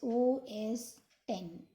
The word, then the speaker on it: OS X: It can be pronounced as OS 10, TEN.